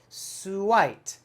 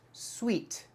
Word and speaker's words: suite: the word is pronounced sweet sweet sweet just like i say this cake or this cookie is sweet the same sound same pronunciation but different spelling sweet and whenever i